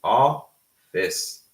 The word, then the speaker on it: office: We don't say O. We have a flat sound, so it's office. Office.